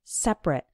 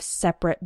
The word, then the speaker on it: separate: we pronounce it like separate for example men and women have separate bathrooms and when it's used as a verb then we pronounce it separate for example we need